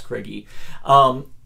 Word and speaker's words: Krige: Or most people say Alice Krige, but apparently Mick Garris in his podcast pronounced it Krige, so it's Alice Krige.